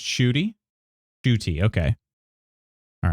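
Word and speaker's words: Ncuti: I'm just going to say Cutie. The N is silent. Cutie is so good. Is that how you say it? It's pronounced Shooty?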